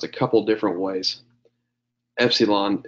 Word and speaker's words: epsilon: Epsilon is pretty much always going to be the short E sound as long as it's by itself.